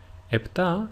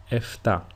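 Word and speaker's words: επτά: translated as EPA EPA EPA is usually pronounced in two different ways the first one is with a p sound like I pronounced it EPA and the second way is with an F sound or a f if you are in if you are Greek that is EA this is why you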